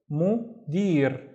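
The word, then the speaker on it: مدير: And then dir, mudir, mudir, which is a manager.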